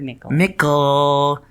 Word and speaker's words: Mikkel: I'll eat I really the word Mikkel rhymes with pickle Mikkel microphones you can